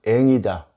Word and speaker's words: 앵: 그래서 고유명사이긴 해도 저는 그냥 그대로 앵으로 발음을 합니다.